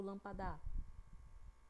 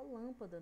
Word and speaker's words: lâmpada: A gente fala lâmpada, né? Se a gente fala lâmpada, então isso mostra que a sílaba que está puxando mais é a lã, que é a antepenúltima sílaba, certo?